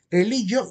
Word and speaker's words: religio: La palabra religio o religio se pronuncia con letra G de gato, religio y religare.